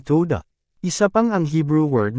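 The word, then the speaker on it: todah: Wow, da at hey ang ginawa nila ay puro tunogan na salita na tawad. Muli, ang waw ay tunog o or o. Kaya ito dapat ay toda.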